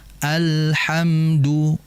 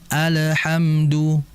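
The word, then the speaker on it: الحمد: Sifat yang mengalir akan tetapi tidak terlalu lama ya. sehingga dibaca alhamdu alhamdu diberikan jeda akan tapi jedanya tidak terlalu lama alhamdu sehingga merupakan kesalahan jika membacanya dengan memantulkan alhamdu bahkan alhamdulillah alhamdulillah lamnya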